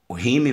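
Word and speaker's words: Hume: né o próprio rimic é o Rio e se escreve h u m e o próprio rhyme Vai dizer que não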